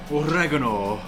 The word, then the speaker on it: oregano: Salt, oregano. I say oregano, not oregano, because my mum is Greek, and that's how you say it.